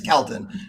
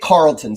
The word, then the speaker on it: Kelton: But yes, Calton is how we pronounce it. Everybody else pronounce it Calton. I don't usually correct them. We get Carlton sometimes in the South, which is where I grew up. Carlton is common, so I'll correct that.